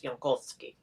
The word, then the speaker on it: Jankowski: Yeah, Ali, it's Polish. It's Jankowski. At least in Polish pronunciation.